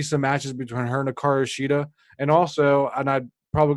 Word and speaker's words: Hikaru Shida: Besides Hikaru Shida, correct pronunciation there.